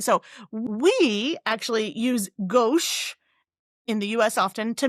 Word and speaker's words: gauche: who is, it goes gauche, how it's pronounced? Gauche, with a SH.